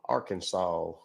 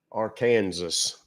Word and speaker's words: Arkansas: From Arkansas, Arkansas, as I like to call it. They pronounce it wrong everywhere I go. Ain't no W in Arkansas.